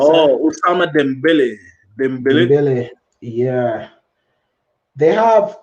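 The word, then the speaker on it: Dembélé: They also have Usman Dimbabi or whatever you pronounce that. Oh, Osama Dembele.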